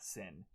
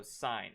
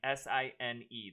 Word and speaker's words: sine: okay it is not sin you pronounce this as sign as in like i saw the sign or the stop sign though it's not spelt